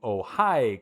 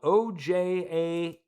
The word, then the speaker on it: Ojai: This goes to Ojai, California. And it's spelled O-J-A-I.